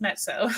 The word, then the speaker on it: Mezzo: Yes, it's pronounced Mezzo because it's Italian.